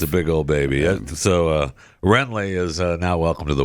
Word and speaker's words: Wrenlee: the W is silent then? Renly.